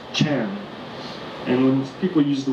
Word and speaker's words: Chan: china it was pronounced chan and when people use the word chan they are referring to chinese zen zen is a japanese word a mispronunciation of the chinese word chan and that basically means